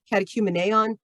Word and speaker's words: Catechumeneon: oop that's acm but yeah there we are catechumeneon see i'm even doing the pronunciation for you guys um and they have